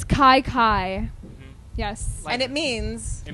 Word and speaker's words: Kye Kye: tell everybody that part set it straight it's Kai Kai yes and it means